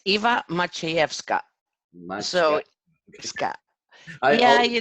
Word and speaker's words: Maciejewska: do you say your last name it's Eva much he F Scott my so Scott yeah you know I've I